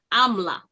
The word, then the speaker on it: Amla: And so instead of Amram, it is Amla. Amla.